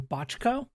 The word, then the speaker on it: Bochco: This episode is written by Stephen Bochco, I believe is how you say his name, who is one of the co-creators of Doogie Howser, MD.